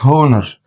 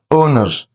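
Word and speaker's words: honour: لو انت ركزت هنا الاتش سايلنت ما قلتش هونر لا اونر كلمه اونر معناها شرف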